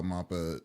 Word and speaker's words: MAPPA: Now I'm like freaking like self-conscious of like if I say this right or I would nap or It's mappa.